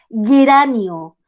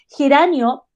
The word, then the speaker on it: geranio: mira, te fijaste que aquí geranio la estamos escribiendo con G, pero mira, suena como J, suena como ajedrez, geranio, suenan igual, y ajedrez con J.